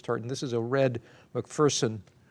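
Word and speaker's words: McPherson: that I corrected you that it's mcferson not mcferson yeah I didn't know if you were mispronounced no because there's no fear in mcferson as they tell you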